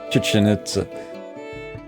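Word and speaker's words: Chichén Itzá: It is hard not to, and I think that's actually pretty close to the proper pronunciation. Yeah, it's just really not a K.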